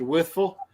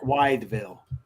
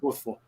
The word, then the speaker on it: Wytheville: For you non-hillbillies, he said Withville. That's actually, when you see it, it will look like Wideville. So, but it's pronounced Withville.